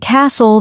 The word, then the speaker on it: castle: For example, in words like no, the K is silent, honest, the H is silent, and castle, the T is silent.